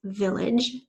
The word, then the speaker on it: village: Number 9 is village. The village was located in the valley. Village. Split it up. Think about that j sound at the end of the word.